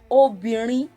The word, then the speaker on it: obìnrin: Obìnrin, re do re.